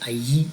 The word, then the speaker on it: allí: The second one today is allí, and if you see the double L in Spanish, it sounds like it's a Y in English, so that double L there is going to be pronounced like allí, and that means there in reference to a place.